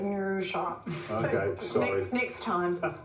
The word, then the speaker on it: Noosa: I don't think you got the memo, but anytime you say Noosa, you actually have to pronounce it Noosa.